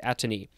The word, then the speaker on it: atony: One, characterized by atony, which is the next word, but I just wanted to double check the pronunciation. Yes, it is atony.